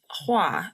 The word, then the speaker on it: Hua: Hoa, am I pronouncing that correctly as well? Hoa? Oh, here, it's Hua, but you can call me or, whatever.